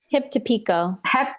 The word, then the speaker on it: Hip to Pico: Am I pronouncing it right? Hip to Pico.